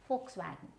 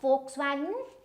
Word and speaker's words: Volkswagen: Then we have this is not Volkswagen. This is Volkswagen. Okay. So this is not the V sound is not there.